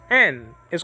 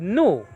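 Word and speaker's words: νι: honey what's that yes n is called nu in greek nowadays it's called ni there's different ways to pronounce greek you know the old way we knew nowadays is knee like my bad knee like that you understand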